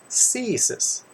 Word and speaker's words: CSIS: am an agent with csys pronounce ceases do you know what